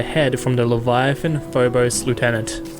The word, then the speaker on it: lieutenant: from the Leviathan Phobos lieutenant or should I say leftenant no it's Lieutenant that's how it's spelled anyways before gluing it